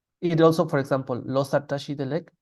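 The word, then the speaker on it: བཀྲ་ཤིས་བདེ་ལེགས: And tashi delek is spelled with a ka. So this is the example for the rule. The reason we pronounce it tashi delek is because of this rule here.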